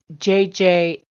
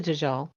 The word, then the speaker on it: Dajjal: And when I went to look it up for pronunciation, the stupid pronunciation said Dajjal. Dajjal. And then when I went to YouTube to look at some actually Islamic videos on the Dajjal, they don't call it Dajjal. Dajjal. They say Dajjal.